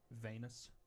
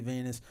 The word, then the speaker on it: venous: I'm gonna correct. That's probably Venus. No, it'd be pronounced Venus. I read like a Yeah, I mean it is in reference to his veins, but it would be venous.